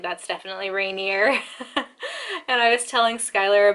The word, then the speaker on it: Rainier: now think that it's the mountain is pronounced renier i'm here to inform you that it's not it's mount rainier um and it's an